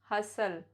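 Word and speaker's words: hustle: T silent before L, या जब किसी वर्ड के लास्ट में TEN होता है तो भी टी साइलेंट माना जाता है. या जब TCH का कॉम्बिनेशन होता है तो भी टी साइलेंट होता है.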